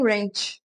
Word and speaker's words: wrench: E aí eu descobri depois que o nome da ferramenta era Allen Wrench. Eu não iria descobrir. Você vê que a pronúncia do wrench, pra mim, é bem difícil por conta do sotaque brasileiro, né? Tipo, eu falo wrench, tipo molho ranch the sauce. Mas na verdade é wrench, tipo, a ferramenta.